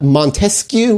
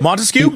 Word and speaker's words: Montesquieu: two more you got Montesquieu which I think is how you say it Montesquieu yeah Montesquieu was a